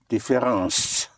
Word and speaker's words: différence: Both ence and ance in French are pronounced ans. Like difference would be différence.